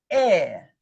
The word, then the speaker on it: heir: You couldn't hear the H. I said hour, but I spell it with an H. Or heir.